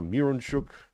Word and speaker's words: Mironchuck: Miron, as it's spelled, Miron, is pronounced mir, like one of the things they gave Jesus, myrrh, frankincense, gold, frankincense, and myrrh. Right, so mir, Mironchuck.